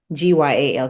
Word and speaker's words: Gyal: So on Instagram, my tag is Trini, Trini, Gyal, Gyal, because you got to say it like the Trini way, not Jamaican, Van.